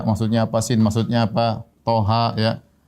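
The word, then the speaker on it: طه: Toha, Yasin, ya. Dan ini banyak dalam Al-Quran, seperti Toha, ya. Kemudian apa? Yasin.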